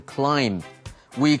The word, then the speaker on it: climb: 这里我们来学 climb。climb C-L-I-M-B 呢 B 不发音，所以攀爬的这个动词 climb。We climbed a ropes course and hiked。所以这里的 ropes course